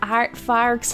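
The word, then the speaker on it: aardvark: Next up is the artfarks habitat.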